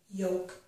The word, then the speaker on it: yolk: and we do not pronounce the letter L in this word, okay? So it's as if there were only a Y, an O, and a K, yolk.